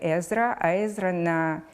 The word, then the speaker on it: Ezrovich: Every time he started a new year at the College, he introduced himself ‘My name is Ezrovich. Repeat: Ezrovich, Ez-Ro-Vich!’ - until the students learned to pronounce it clearly.